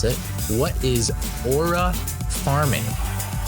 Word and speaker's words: aura farming: What is aura forming? That's not how you pronounce it. What is aura farming?